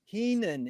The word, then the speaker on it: Heenan: and a pleasure to be here with walt keenan is that the correct way to pronounce the kate your last name you you